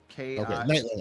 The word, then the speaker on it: Nightling: So like night. Yeah, like night and then L-I-N-G. So Nightling.